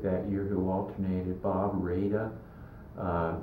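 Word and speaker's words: Rada: Bob Raida uh spelled R A D A but he pronounced it Raida.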